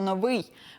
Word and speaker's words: новий: в собі приховало слово новий почнемо з його вимови а саме з правильного наголошування запам'ятаємо у цьому слові наголос падає на другий склад новий а не так як у росіян новий До речі це слово